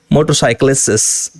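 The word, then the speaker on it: motorcyclists: सो यहाँ पर ये टी को आप ड्रॉप कर सकते हैं अगर स्पीकिंग की बात करें। मोटरसाइकिलिस्ट्स, मोटरसाइकिलिस्ट, राइट, जो ट्रैवल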